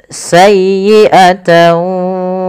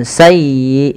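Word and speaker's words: سيئة: Kemudian sayyiatan wa aat bih. Padafal sayyi tekan di huruf ya karena dia ya tasdid dan lembutkan ya. Sayyi bukan sayi bukan sayi bukan sayi tapi sayyiata sayiatan wa ahat bih tidak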